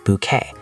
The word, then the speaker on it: bouquet: That's a French word we use in English. B O U E T, pronounced bouquet.